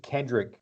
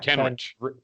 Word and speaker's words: Kenrich: There's no D in it. It's Ken. I know it's Kenrich, like CH. Say Rick, not Rich. You don't say Rich. That's how it's spelled.